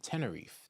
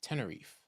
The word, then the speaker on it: Tenerife: jeans ask for you go ahead it is pronounced 10. r e English 10 10 Tenerife Tenerife in English a Spanish Island on the coast